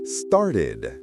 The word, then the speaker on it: started: Si el verbo base ya termina en un sonido t o do, entonces el ed se pronuncia como una sílaba extra. Ed. Por ejemplo, start. Start ends with a t sound. So started is started.